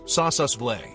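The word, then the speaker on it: Sossusvlei: Pronounce it slowly. Sausas Vle.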